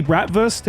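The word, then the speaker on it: Bratwurst: They're actually bratvst, a German word where the W is pronounced like a V.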